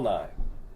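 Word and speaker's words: Nigh: Paul Nye's same last name as Bill Nye. M-I-E. Wow. Yeah, N-I-G-H. Oh, N-I-G-H. Okay, got it. Okay. Paul Nye. But same pronunciation.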